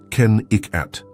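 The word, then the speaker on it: Kennecott: This was Kakott, pronounced Ken Ikat, a copper mining company town that boomed in the early 1900s.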